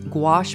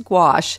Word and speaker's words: gouache: what the heck is gouache well pronounced very much like squash the vegetable it's a medium that